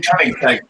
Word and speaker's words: Koenigsegg: It's like King's Egg. Did you hear of that company? Koenigsegg, yeah.